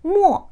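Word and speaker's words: 没: 할 때는 매일을 사용했었는데요 이 글자도 메이 말고 뭐 라는 발음이 하나 더 있습니다 그래서 한글의 의미로 몰라 가다 떨어지다 이런 의미일 때는 뭐 라고 발음한다 란 기억하시는 되겠어요 그래서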